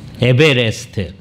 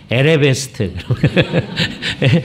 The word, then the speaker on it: 에베레스트: 에베레스트. 제가 왜 이 말을 조심해서 얘기하느냐? 제가 초등학교 때부터 그걸 늘 뭐라고 발음하냐면 에레베스트.